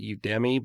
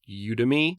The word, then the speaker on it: Udemy: often on udemy I used to call it Udi but it's pronounced udemy I have a free course on you to